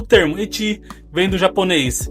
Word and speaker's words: ecchi: bem aceita de que eti vem da forma como japonês pronunciam a letra H, que por sua vez está ligada à palavra hentai.